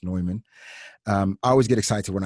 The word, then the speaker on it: Neumann: when i see a newman a neumann uh which is a german brand that's that's how it looks like new but it's pronounced neumann i always get excited